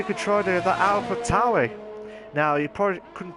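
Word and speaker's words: AlphaTauri: Let's see if he could try to do that Alpha Tauri. Now, you probably couldn't pronounce it. I called it Alpha Tauri. Like, but it's not, it's Alpha Tauri, like the only way is Essex type Tauri.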